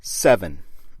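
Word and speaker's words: Sevin: those safety measures failed 7 it sounds just like the number but it is spelled SE VI n that version of 7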